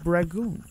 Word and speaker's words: rangoon: I went home and had some crab rangoon. Is it crab rangoon? I think that's... Is that what the box says? Wait, you made boxed crab rangoon? Yeah. Ew. I'm poor. What'd you call it, Eric? Rangoon.